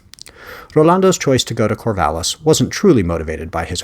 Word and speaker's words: Corvallis: What about this Corvallis? He pronounced the double L as a Y, put the accent on the last syllable, and made the city sound far fancier. Corvallis, Serge corrected, an hour and a half.